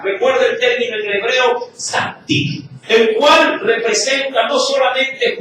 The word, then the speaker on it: tzaddik: Es tzaddik. Sí, tzaddik. T-S-A-D-D-U-I-Q. Sí, repito, tzaddik. T-S-A-D-D-I-Q.